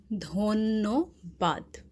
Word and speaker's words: dhonnobad: So that's why I have written this double N-O, N-N-O, so that you understand the pronunciation. So it is actually dhonnobad, okay? So yeah, dhonnobad is the Bangla for thank you.